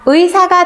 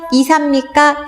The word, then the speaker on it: 의사: 이사입니까? 둘 개 다 됩니까? 얘 올바른 발음, 의사, 의. 이중모음은 이중모음대로 발음한다.